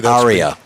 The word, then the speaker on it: Ariya: Aria.